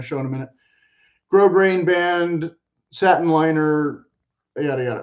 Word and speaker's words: grosgrain: Made in Texas from firm, high-quality felt, it features a grosgrain, the S is silent, ribbon hat band accented by a bold feather on the interior.